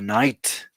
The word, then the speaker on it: knight: about that in English you call it the Knight the KN like like in the Middle Ages the night and uh it's that